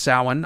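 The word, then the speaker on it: Samhain: spelled like Sam Hayne or something but it's pronounced saan I don't know why it's just an ancient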